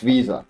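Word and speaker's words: VESA: It's Visa. Okay, it says they're Visa.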